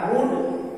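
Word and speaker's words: would: उसी तरह से डब्ल्यू ओ यू एल डी, यहाँ यू के बाद है एल तो एल साइलेंट हो जाएगा वुड।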